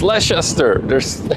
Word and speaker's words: Leicester: It's like Leicester Square. It's Leicester. I see an E. Pronounce it. Crazy British in your pronunciations.